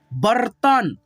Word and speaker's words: बर्तन: ब और त में रेफ है तो त से पहले आधा र का उच्चारण। बर्तन, पर्स, गर्दन, सूर्य, मर्जी,